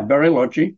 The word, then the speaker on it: Bariloche: Do you think, so if we go to the town of, is it Bariloche? Is that how you pronounce it? Yeah, Bariloche.